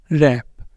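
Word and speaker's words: wrap: शुरू हो रहा है डब्लू आर से यहां पर डब्लू होगा साइलेंट ये है रंग राइट रप रिस्ट ठीक है रप रिस्ट रोट तो इन सबके अंदर क्या है डब्लू है साइलेंट डब्लू आर के साथ वर्ड शुरू हो रहा है तो डब्लू रहेगा साइलेंट उसके बाद आ जाता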